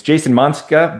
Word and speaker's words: Monczka: It's Jason Monczka, but it's spelled Monczka. Right.